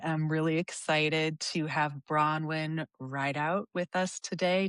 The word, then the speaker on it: Bronwyn Rideout: I am really excited to have Bronwyn Rideout with us today. Did I say it right, Bronwyn? Yeah, you did.